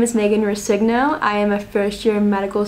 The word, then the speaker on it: Rescigno: Rescigno. Did I pronounce that right?